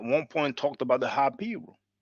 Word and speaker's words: Hapiru: Now, brother JJ 7000 at one point talked about the Hapiru. Many people who are English speaking uh pronounce it Haparu.